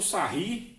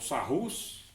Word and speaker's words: Sarrus: Aí o aqui você poderia usar tanto sarri ou sarrus, né? Depende da pronúncia de cada um, ou la.